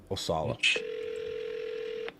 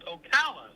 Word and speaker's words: Ocala: Osala. Hello. Hey, Dan. This is Stratton. You reached out to me by your house out in Osala.